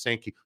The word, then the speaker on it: Sankey: Very interesting timing that Greg Sankey, the commissioner of the SEC, and it's actually pronounced Sankey.